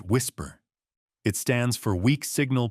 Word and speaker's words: WSPR: A technology called WSPR, pronounced whisper.